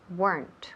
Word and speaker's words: weren't: let me repeat there weren't remember warrant unados so one syllable weren't weren't no maybe guys weren't